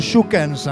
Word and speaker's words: Schoukens: Alors nous on l'appelle Schoukens, mais c'est Schoukens quand on veut prononcer comme il faut.